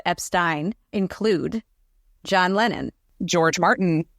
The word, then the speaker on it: Epstein: number of people who have been recorded saying Epstein during the time when Brian was managing The Beatles the list of people who said Epstein include John Lennon George Martin Viv Jones worked